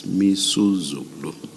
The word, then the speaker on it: Misuzulu: I mispronounced the king's name. It's Misuzulu. Thank you.